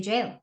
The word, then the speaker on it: gaol: in the old movies yeah yeah I'm in goal or I could get into gold and you're like okay that means jail yeah exactly but actually they they would they meant to say jail not gone yeah yeah the pronunciation was wrong